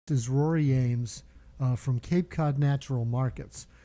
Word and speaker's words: Eames: It's pronounced Eames.